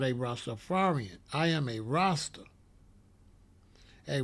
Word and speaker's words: Rastafari: It's Rastafari. It's not Rastafari. We always write Rastafari like this. Always write Rastafari, R-A-S, capital T-A-F-A-R-I. Written in one word, but the capital separates the pronunciation.